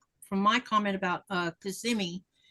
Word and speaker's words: Kissimmee: And I'm like, it's not Kissimmee, it's Kissimmee.